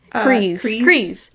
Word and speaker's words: Kryze: Kryze. Yeah, because doesn't look like it would say Kryze the way it's spelled.